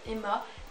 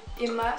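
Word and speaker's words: HEMA: vient de la marque Emma. Je sais pas si vous connaissez, il me semble que ça s'écrit H-E-M-A. Et bah oui, H-E-M-A, donc ça vient de la marque Emma, ce petit jar.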